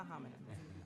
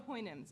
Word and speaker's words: Houyhnhnms: Okay, not the homonyms, the Houyhnhnms, apologies.